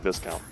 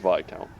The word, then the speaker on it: Viscount: count this count no it's definitely not Viscount I think it's pronounced by count don't quote me on